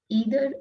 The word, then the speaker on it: either: Neither or nor, either or. We can pronounce it like neither or nor, either or. Both the pronunciation are correct.